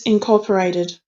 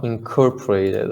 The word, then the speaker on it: incorporated: can use it everywhere just be mindful with the pronunciation of incorporated i don't know how you're saying it but yeah it's it's incorporated i said uh let me read again all of eastern iran and incorporated it into this empire is right incorporated no incorporated uh incorporated okay yeah the stress is on core so and it yeah